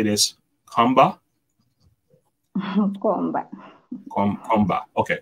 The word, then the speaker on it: Mkomba: say this Comba com Comba okay Comba okay the m is silent it's words some somehow